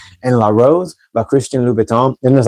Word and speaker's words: Louboutin: I know people say Louboutin, but I'm pretty sure in French it's Louboutin.